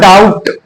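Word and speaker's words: doubt: क्या है सेकंड वाला, टी से पहले बी हो तो बी प्राय साइलेंट होगा। फॉर एग्जाम्पल आप देख लीजिए डाउट है, इसको लिखा हुआ क्या है, डाउट है ना, डाउट। तो अब इसको हम जो है डाउट बोलते हैं इस वजह से क्योंकि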